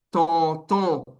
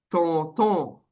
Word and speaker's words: tonton: Tío, en inglés se dice uncle, pero en creol se dice tonton, tonton. Se escribe tontón.